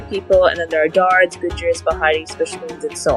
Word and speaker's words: Dards: It's not Dards, it's Dards.